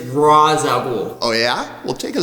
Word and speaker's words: Ra's al Ghul: the criminal mastermind himself Rael ghoul you are pronouncing it wrong sir it is Ral ghoul oh yeah we'll take